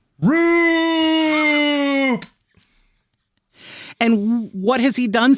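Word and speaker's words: Roupp: away from him by a man whose name rhymes with poop. Roop!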